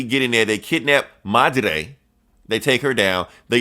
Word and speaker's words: Madre: You gotta roll the R, man. You gotta Madre.